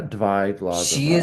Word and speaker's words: Dyatlova: Yeah, Dyatlova.